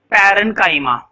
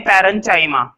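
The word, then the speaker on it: parenchyma: कुछ बच्चे इसको चाइमा पढ़ते हैं, पैरेन्चाइमा, वो गलत है ना, चाइमा नहीं पढ़ेंगे।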